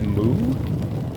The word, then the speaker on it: mu: Wait, isn't that moo? Yeah, I think it's moon. Oh. But I believe in Greek it's pronounced me, I'm pretty sure. That's weird. The way that the mathematics community pronounces Greek letters is a lot different than actual Greeks pronounce Greek letters.